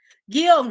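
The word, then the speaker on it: guion: No, sí se pronuncia como lo has hecho, guión, ¿no? El acento está en la O.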